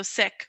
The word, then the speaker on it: Sikh: i see now as my responsibility to educate people and to own what it is as it's supposed to be said so sick or amninder and mandip